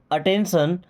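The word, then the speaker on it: attention: यो means होता है आपका अटेंशन। अटेंशन का मतलब होता है ध्यान। टी आई ओ एन को हमेशा पढ़ते हैं सन। क्या पढ़ते हैं? सन। तो अटेंशन।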